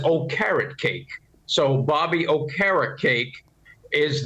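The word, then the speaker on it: Okereke: got the linebacker uh oh karakay and uh wink helped me with the pronunciation he said he told me just say it as oh carrot cake so Bobby O'Hara cake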